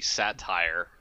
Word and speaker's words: Sotir: It needs to be known that Sotir's name really should be Satire, because that's exactly how it works out. It's how satirical can he be? Just saying. That's how you pronounce it.